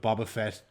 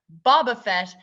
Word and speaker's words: Boba Fett: of the bag for season 3 because with Boba Fett becoming Mandalorian season 2.0 by the 2.5 by the end of it, I think they really are.